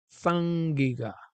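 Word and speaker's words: saĝ-gíg-ga: you see the um is pronounced as in sing sang giga okay and of course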